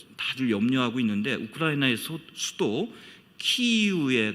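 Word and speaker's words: Kyiv: 조금 좀 시대를 건너뛰긴 합니다만 그 11세기 지금 온 세계가 우크라이나 전쟁으로 다들 염려하고 있는데 우크라이나의 수도 키이우에 가면은 옛날 키예프라고 우리가 발음했잖아요.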